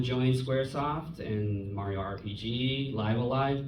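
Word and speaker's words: Live A Live: She then would join Squaresoft and Mario RPG, Live Alive, that's how it's said, by the way, Live Alive.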